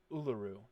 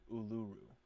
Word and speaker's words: Uluru: It's Uluru, not Uluru. Uluru. Appreciate that. Yeah, I think we're all on the same page here. Even though our rhymes ranks with weren't. Uluru.